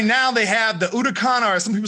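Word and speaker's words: Huracán: the sto because right now they have the utah khan or some people say huracan but it's pronounced udacon but they have an sto i think i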